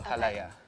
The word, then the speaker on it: halaya: When I was looking at recipes for ube cake, there was this ube halaya. You say ha? Ha? La? La? Ya? Ya? The stress is on the ya at the end, so halaya.